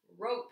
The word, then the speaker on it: rope: alright we have some rope here so we're gonna mark our mouth the first one says long sound and the second one is silent Orlando can you help